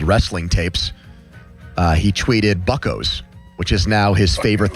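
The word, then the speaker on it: Buccos: And by the way, it's pronounced buckos.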